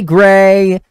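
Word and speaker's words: Grei: Gray? G-R-E-I? Yeah, here we go. Hi, Gray!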